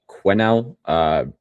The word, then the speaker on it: Quinnell: It's pronounced Quinnell. Don't know why we ever added the S, but it's there.